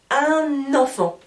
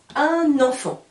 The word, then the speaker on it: un enfant: là nous avons eu je vais faire la liaison on appelle ça en français la liaison j'ai un enfant comme si c'était seulement un mot j'ai un enfant je continue maintenant j'écris